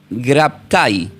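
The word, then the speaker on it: γέγραπται: Él dice, "Escrito está", le dice al Y esta es una palabra griega que se pronuncia como gegraptai, así tomen nota.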